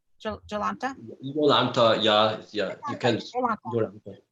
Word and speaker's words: Jolanta: And Jolanta, am I pronouncing that correctly? Jolanta?